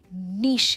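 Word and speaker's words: niche: जैसे मेरा specific interest है इंग्लिश लर्निंग के वीडियोस बनाना, ये मेरा नीश है, राइट? और मैं जनरली ये प्रोनाउंसिएशन को यूज़ करती हूँ, निश।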